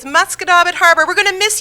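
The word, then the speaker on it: Musquodoboit: Muskadobit Harbor. Muscadabit Harbor. How would you spell that?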